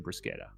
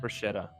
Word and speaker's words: bruschetta: So we got some sick cherry tomatoes as well, and then some local cured meat as well, and made some bruschetta, and it was like chef's kiss.